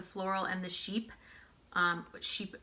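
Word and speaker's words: Chypre: much like the floral and the Sheep um sheep it's spelled chai pray but it's pronounced sheep um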